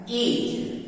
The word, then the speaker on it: edge: जैसे EDGE, तो यहाँ G के पहले डी है तो इसका सही प्रोनाउंसिएशन है ईज।